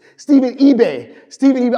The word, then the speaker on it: eBay: say your name, Stephen eBay. Stephen eBay. I always want to say IBEA because it's IBEH, and I want to say IBEA so bad, but it's eBay.